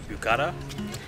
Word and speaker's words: Büyükada: yeah and the largest in bukhara that's how you pronounce it our hosts at